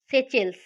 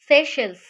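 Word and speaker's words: Seychelles: लामित्य, India और सेचेल्स। दिखने में सेचेल्स है लेकिन इसका प्रोनाउंसिएशन है सेशल्स, सेशल्स। जो शेष है, यहाँ पर शेष आ रहा है, शेष।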